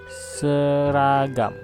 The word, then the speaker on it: seragam: Another example, seragam. It is also sounds like in the word bird.